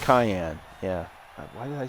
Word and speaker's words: Cayenne: Do they pronounce it Cheyenne? No, it's Cayenne. It's the Porsche Cayenne.